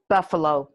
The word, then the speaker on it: buffalo: cannot let let's say buffalo buffalo i cannot let buffalo here comes buff buff uh there's our schwa buff uh low three syllables buffalo i cannot let buffalo